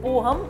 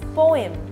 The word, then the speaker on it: poem: noodles it's not video it's video it's not poam it's poem it's not dairy it's diary Diary Dairy is